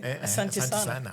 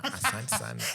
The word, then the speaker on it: Asante sana: Asante sana. Asante sana.